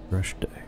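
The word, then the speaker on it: Dreshdae: Dreshde. Okay, I've been pronouncing it wrong all this time.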